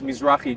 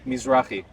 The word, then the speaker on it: Mizrahi: Since that you're like an Arab Jew person, or am I saying it right? Because I don't want to be like Arabized. disrespectful. Arabized. The actual term is Mizrahi Jew, which means a Jew from the east. Say it again.